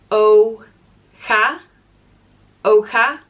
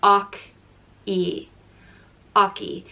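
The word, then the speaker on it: Eochaidh: and it means horse it's pronounced o Oka or O E oi it can probably be pronounced even more ways but those are probably the two most common and this name is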